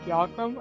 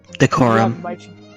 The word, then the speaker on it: decorum: I don't know how to pronounce that word. Diacrum? I don't know. Decorum.